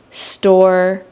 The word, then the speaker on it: store: So, just keep practicing the pronunciation store. Credit. Store. Credit. Do you notice how when I say store, the last letter is a e and it's not really pronounced, but I'm I drop my jaw.